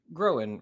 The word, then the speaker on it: Groen: on today uh Rob groan right did I pronounce yes that's corre cool well welcome welcome